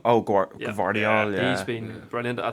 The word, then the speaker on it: Gvardiol: And then, I don't even know how to pronounce it. You know the way they plays for RB Leipzig? Rhyme. Yeah, Oscar Guardiola. Oh, Yeah. Gvardiol, yeah.